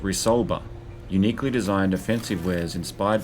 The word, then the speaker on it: Resolver: heavily touted Resolver weapons, which is actually pronounced Resolver, uniquely designed offensive wares